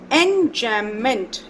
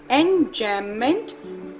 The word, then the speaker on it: enjambment: Next is enjambment. B is silent. Enjambment, it means when same sentence continues.